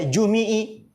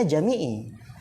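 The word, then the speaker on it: جميع: bahasa Arab benar-benar awam bisa aja Antum baca jumii jimii jumaii benar enggak Tapi ketika Antum Oh Ustaz bacanya jamii Jadi kalau Jim mim ya ain dibaca Jami gitu Oleh karena itu Perhatikan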